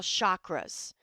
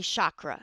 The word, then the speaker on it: chakra: in yoga we call chakras and the Ancients the correct pronunciation is chakra all right but we Americans say Shakra whatever you want to